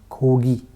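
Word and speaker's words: 고기: second character will be pronounced like so the pronunciation of this word will be ko kogi kogi means meet kogi and aagi the last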